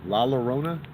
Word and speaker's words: La Llorona: But La Llorona. I think there's 2 L's in the Spanish language is fucking pronounced as a Y. Yeah. La Llorona. Yeah. La Llorona. It almost sounds like my Sharona.